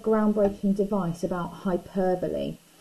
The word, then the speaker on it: hyperbole: I mentioned when I said groundbreaking device about hyperbole, spelt like this, and often wrongly pronounced hyperbole.